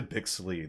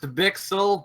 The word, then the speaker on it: Bixel: It's actually pronounced Bixel, but yeah, you said it could go both ways. It does go either way, but if we're gonna be semantic, it's Bixel.